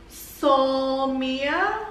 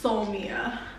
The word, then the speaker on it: Soulmia: be a two-part series the company is called soul mia or soul mia but i i think it's pronounced so mia um so i have